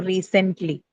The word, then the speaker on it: recently: So here it is marked on the first syllable.